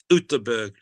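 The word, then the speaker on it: Göteborg: We almost did, but we we always had a joining rooms in a hotel in in Goththingberg, Utberg as it's pronounced.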